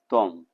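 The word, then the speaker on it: त्वम्: हमने अनुस्वार लगा दिया, इस अनुस्वार का उच्चारण मां का होता है। अनुस्वार संस्कृत में ध्यान देना है, संस्कृत में हमेशा यही ध्यान देना है कि जब भी किसी वर्ण के ऊपर अनुस्वार लगा होता है तो वह मां का उच्चारण होता है। तो ये हो जाएगा त्वम।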